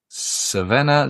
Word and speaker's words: Crvena: How do you pronounce the real name? The real name is actually Crvena Zvezda. Crvena Zvezda.